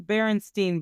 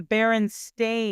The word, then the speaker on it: Berenstain: People calling them the Berenstein Bears. People think it's spelled They're not E, the Berenstein Bears. It's the Berenstain Yeah, it's just Bears. one E. Z-E. It's an A.